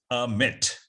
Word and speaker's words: Amit: So what I tell people is the best way to pronounce my name is I am Amit.